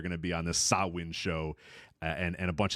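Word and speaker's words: Samhain: you know do the sawin even though it's spelled s m h an it's sawin I I made sure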